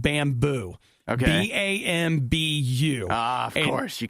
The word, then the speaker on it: Bambu: here in the United States, launch something called Bamboo. Okay. BAMBU. Of course. You can't spell it the normal way.